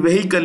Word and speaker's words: vehicle: told in the past the H in vehicle is silent okay vehicle launch vehicle Mark 3 mark 3.